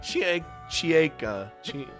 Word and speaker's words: Chieka: Is it Chieka or Cheka? Chieka.